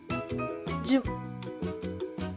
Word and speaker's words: giù: If you see an accent on this vowel, just like the letters A, I, and O, pronounce the word stressing the U. Più, più. Giù, giù.